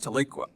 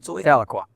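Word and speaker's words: Tahlequah: raises red Angus cattle on his farm outside Tiqua. Is that how you pronounce it? Taloqua.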